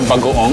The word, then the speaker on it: bagoong: We call it bagoong, that's how you say it.